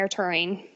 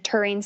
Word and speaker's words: Toering: for a long time and it's spelled like tow ring yeah it is when